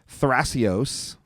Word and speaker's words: Thrasios: I don't know why they took the H out It's for the probably Italian. pronunciation stuff. Like maybe the TH isn't a sound in Italian.